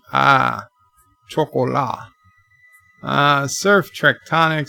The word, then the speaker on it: chocolat: Luke says the T is silent in chocolat, unlike the English. Ah, chocolat.